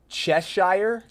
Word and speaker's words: Cheshire: kept forgetting what is and how do you pronounce that's Cheshire Cheshire the cat wholly crack Cheshire thing that